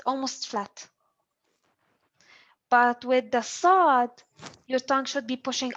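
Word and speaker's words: ص: produce or pronounce the sod uh it's as if you are pronouncing a scene but push the air up so nothing is so only push the the tongue up is so the the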